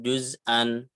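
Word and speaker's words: جُزْءًا: Ditulisnya kan juz'an tapi dibacanya juz'a gitu ya.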